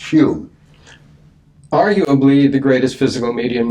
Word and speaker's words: Home: home or who it would be spelled h-o-m-e pronounced hume arguably the greatest physical